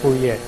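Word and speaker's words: Fourier: by the way um you know the French have the habit of they keep writing after they put all the sounds on the paper so the last R in this case you don't pronounce it I think it's a forier right so the main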